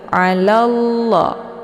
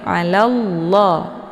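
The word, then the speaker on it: على الله: berharakat tebal yaitu la jadi bacanya tebal ya bukan alalla bukan alalla tapi alallah alall jadi ujung lidahnya nempel langsung di langit ya kemudian la dibaca panjang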